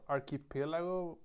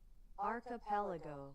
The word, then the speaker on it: archipelago: How do you pronounce this Archipelago. Archipelago. All right. Yeah. For example, an archipelago. It it I didn't pronounce it correctly.